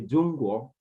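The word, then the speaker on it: 中国: You say Zhongguo.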